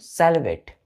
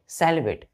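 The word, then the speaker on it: silhouette: क्या बोलेंगे इसको बच्चों सेलवेट सेलवेट प्रोनंसिएशन क्या करते हैं सेलवेट लेकिन लिखते क्या है बच्चों एस आई एल एच ओ यू ई टीटीई पढ़ेंगे प्रोनंसिएशन क्या करेंगे सेलवेट सेलवेट स्पेलिंग देखिए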